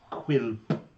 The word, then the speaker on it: Quilp: Quilp. Yes. Rhymes with quilt.